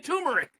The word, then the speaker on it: turmeric: But I've been seeing videos lately of people saying uh uh Did you leave an R out? Tumeric. Yeah. T They're saying turmeric.